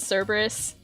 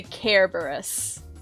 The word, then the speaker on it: Cerberus: no i said care care barris kerberos or do you pronounce it cerberus i say care burris i thought you were